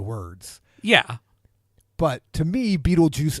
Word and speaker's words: Betelgeuse: yeah but to me Betelgeuse is spelled like the word beetle and then the word juice put together yes that that